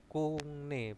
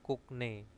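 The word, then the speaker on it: 국내: Nah, terus ada kungne sopo ya, kungne bacanya kungne ya, bukan kukne. Kungne.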